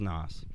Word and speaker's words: N.O.S.: is an OS googled pronounced as nas like nitrous I like we're talking